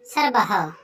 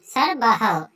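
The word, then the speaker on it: সর্বঃ: সংস্কৃত শব্দে যখন আমরা এই বিসর্গ শব্দটি দেখতে পারবো, অর্থাৎ এই বিসর্গটি দেখলে আমরা হ উচ্চারণ করব। যেমন সর্ব, সর্ব, সর্ব। এই সর্ব শব্দ যখনই থাকবে আমরা একে উচ্চারণ করব সর্বহ, সর্বহ।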